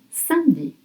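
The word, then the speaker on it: samedi: But we pronounce sandi.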